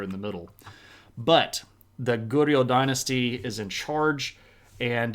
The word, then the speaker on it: Goryeo: kind of sound, which if you're adopting a sort of thick southern accent and you said Korea, that's actually pretty close to how you'd pronounced Goryeo.